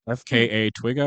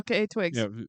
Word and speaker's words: FKA twigs: nudity of, I have no idea how to pronounce her name because it's letters and then Twigga, FKA Twigga, I think her name Oh, is. FKA Twigs.